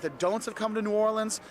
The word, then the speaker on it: New Orleans: We've got the don'ts of coming to New Orleans. You notice I keep saying New Orleans because that's how you say it. It's not New Orleans. It's not New Orleans, it's New Orleans.